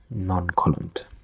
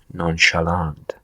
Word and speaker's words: nonchalant: of non-coland non-collant yeah I guess it's not correct pronunciation non-colent nonchalant where the you know sometimes English has no logic and you just you know have to for long stupid pronunciation nonchalant nonchalant behaving in a